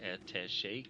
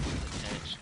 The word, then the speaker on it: attaché: I love people that's the younger generation doesn't know how certain words are pronounced, like attaché case, pronounced attached case by them, and then Bierstein, famously by John Wolfe, cracks me up.